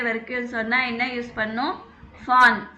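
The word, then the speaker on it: von: சொன்னால் என்ன யூஸ் பண்ணும், ஃபான். ஃபான் வி வந்து எஃப் ப்ரொனவுன்ஸ் பண்ணும். ஞாபகம் இருக்கா, ஆல்பபெட் படித்தோம் இல்லைங்களா. வி வந்து எஃப் ப்ரொனவுன்ஸ் பண்ணுறோம் இல்லைங்களா, அதே மாதிரி தான்.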